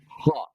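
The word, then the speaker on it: ح: Ha. Ha. That letter is pronounced as ha.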